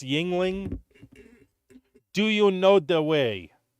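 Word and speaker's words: Yuengling: was supposed to be it's pronounced Yingling do you know the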